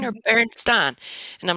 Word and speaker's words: Berenstain: was like, okay, is it supposed to be pronounced Berenstain or Berenstein?